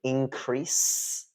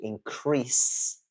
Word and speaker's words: increase: you'll notice that uh there's a difference between the verb form and the noun form which is stress so uh to increase and increase the verb form is stressed on the second syllable and the noun form is stressed on the first syll but it doesn't change